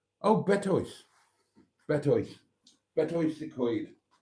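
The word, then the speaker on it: Betws-y-Coed: Betois Secoid. English people always pronounce it Betsycoid for some reason. It's not. It's Betois. Betois.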